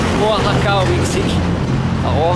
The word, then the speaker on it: Oaxaca: arrivé à Oaxaca au Mexique. Alors, Oaxaca en fait s'écrit Oaxaca, mais se prononce Oaxaca parce que le X se mange.